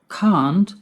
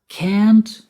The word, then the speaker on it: can't: Now, you may have noticed that I pronounce that word in two different ways. Can't and can't. What's the difference? Can't is the pronunciation in American English, and can't is the pronunciation in British English.